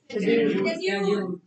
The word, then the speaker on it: schedule: Schedule. Pronunciation क्या होगी? शेड्यूल। शेड्यूल। शेड्यूल। शेड्यूल होगी या स्केड्यूल होगी? Schedule.